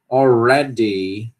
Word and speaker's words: already: Already, all, tem que pronunciar o L, né? Already, already. Se quiser dizer already, também dá certo, não tem problema.